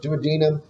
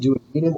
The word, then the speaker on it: duodenum: Average adult length is about 22-23 feet, and there are three portions, the duodenum. Now you can pronounce it duodenum or duodenum. It can be pronounced either way.